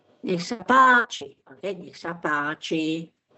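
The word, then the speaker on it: Nech sa páči: Okay, so the stress is on the first syllable. Niech sa páči.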